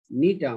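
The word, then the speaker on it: Gnetum: প্যাডোকার্পাস নেরিফোলিয়াস, নিটাম, এটা উচ্চারণ হবে নিটাম, জি এর উচ্চারণ হবে না, নিটাম মন্টেনাম, নিটাম অবলঙ্গাম, নিটাম ল্যাটিফোলিয়াম।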